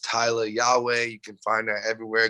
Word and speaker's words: Tyla Yaweh: a w e h pronounced tyler yahweh you can find that